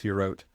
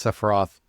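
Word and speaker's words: ספירות: 10 spheres of creation, the 10 sephirot, or svirot, depending on which pronunciation. If you want a more proper Hebrew pronunciation, it's svirot. If you want the one that the Golden Dawn, for example, popularized, it's sephiroth.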